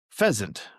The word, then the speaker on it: pheasant: I'm not sure which dictionary I cited here, but pheasant. We're defining the word pheasant. Pheasant. And it's got the pronunciation. It sounds like pheasant. It's got a Z sound or in the S, but it's spelled with the S.